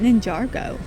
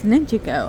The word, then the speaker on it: Ninjago: I always called it Ninjargo. Just leave the R, right? It's Ninjago. I was saying it wrong all these years. Ninjago. Oh, Ninjago. What? What happened? It's just spelled Ninja.